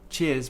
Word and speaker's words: cheers: the word Cheers so in terms of pronunciation we another diphthong ear Cheers so we start with our tongue at the top this time here then we moved to the middle of the mouth ear to the